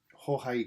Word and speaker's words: Jorge: Jorge Corona. I've got his name, the pronunciation of his name right. Otherwise, it's George.